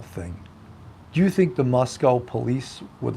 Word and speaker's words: Moscow: Moscow is that right who's ever complaining about the way I say it Moscow okay I think I said it right uh not Moscow not like Russia don't say it like Russia uh how long will the